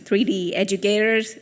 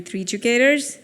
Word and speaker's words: 3DUcators: I know it's very hard to pronounce, 3D Educators, or it's actually 3DUcators.